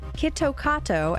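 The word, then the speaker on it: キットカット: varieties in Japan apparently the name Kit Takato as the Japanese pronounce it sounds similar to the phrase kitto katsu which translates to you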